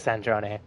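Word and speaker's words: Sandrone: So, it is Sandron.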